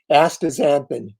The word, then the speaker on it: astaxanthin: a toughie if you don't know how to pronounce that. So it is astaxanthin.